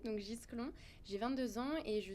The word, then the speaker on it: Gisclon: Moi c'est Gisclon, donc on prononce le S et le C, donc Gisclon.